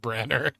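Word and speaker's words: Branagh: That's pronounced Branner.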